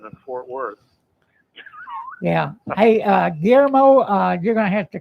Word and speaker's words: Guillermo: Geezer, how do you pronounce that name right there? Guillermo.